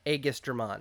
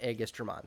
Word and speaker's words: Aegisdramon: me the proper pronunciation I am settling on everyone I have ever spoken to has pronounced the name differently I am sticking with because it is comfortable for me egistramon I don't know I'm I'm going with aegistramon so just so we're clear I am committing to that pronunciation for the duration of this video now this is a